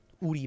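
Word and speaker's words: Woori: uh shinhan bank and worry Bank um and in English we spell it you know w-o-o-r-i worry bank but in Korea it's actually uh Udi Bank like which means we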